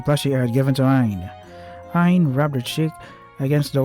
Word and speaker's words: Aine: The Ain Ain is the love Ain has only for Claf Chan. And the na is the sound of my true feelings. So it's pronounced Aina?